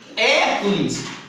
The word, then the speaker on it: Hércules: é próprio certo próprio Hércules tem um acento Olha aonde Não é ele é um proparoxítono a sílaba mais forte é a primeira antepenúltima Tá vendo como é